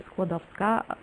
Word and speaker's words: Skłodowska: For its first part, you can remember the name of the modern sport, squash, and the letter W, the red one, in the second part, you need to pronounce like the first letter in the word Virginia, or for example, vet.